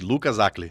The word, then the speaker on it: Lucas Hacl: Lucas Acli. Eu falo certo o seu nome? Eu até perguntei para sua esposa como que pronunciava. É um nome difícil de pronunciar, né? Mas é isso aí, Lucas Acli.